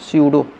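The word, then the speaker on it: pseudo: है सीडो पढ़ते हैं प क्या होता है साइलेंट इसको पढ़ते हैं सी डो इसमें क्या होता है प साइलेंट होता है तो इसकी परिभाषा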